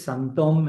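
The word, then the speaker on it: sinthome: Que es homofónica con la palabra síntoma en francés, ¿no? Entonces es santón. En un caso la palabra síntoma es con y p el acento circunflexo. Y en el otro caso se escribe sintome con i latina y h sintome, pero en francés es santom.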